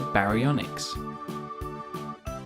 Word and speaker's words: Baryonyx: baryonyx how do you say that again ba re on x how big was a baryonyx it grew to be longer than a bus